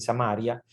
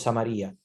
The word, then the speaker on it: Samaria: Samaria, como quieran llamarle, tiene esas dos pronunciaciones. Seguramente ustedes habrán escuchado personas cuando leen la Sagrada Escritura, a veces dicen Samaria, otros Samaria. Es más común decir Samaria, pero está permitido las dos pronunciaciones.